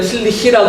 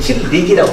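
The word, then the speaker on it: Tillich: 나치 독일 유대인으로서 나치 치하에 있다 독일에 있다가 천재 신학자인데 발음은 뭐 이렇게 티알라시니까 우리 때는 틸리히라고 그랬는데 요즘 또 뭐 틸리 번역한 사람도 틸릭이라고 쓰는 사람들도 있더라고요.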